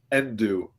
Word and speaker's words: Ndu: So when you have like these different names, like one of my teammates, his name was NDU. Endu was how you pronounced it.